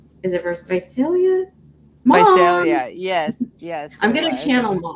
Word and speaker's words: Visalia: Visalia, yes. I'm going to channel Mom. Can you tell me how to pronounce that?